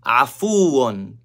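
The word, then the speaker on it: عَفُوٌّ: Afuun. Afuun. It starts with a, not a, not afuun. Afuun.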